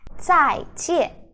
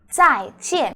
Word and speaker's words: 再见: 再见. So the Z sound is 滋, 滋. Okay, it's kind of like DS sound, the DS ending sound in English, but you have to voice that.